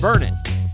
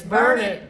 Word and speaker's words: Burnet: somewhere around 5,000 people it's pronounced burn it and if you can't remember the locals would be happy to remind you it's burn it D it can't you